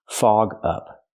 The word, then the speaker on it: fog up: Fog up. Link the sounds. Fog up. Fog up. It's a phrasal verb, so you stress both words. Fog up. Not fog up, but fog up.